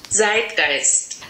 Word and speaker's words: Zeitgeist: My pronunciation is not perfect. So this is what it sounds like on Google Translate. Zeitgeist.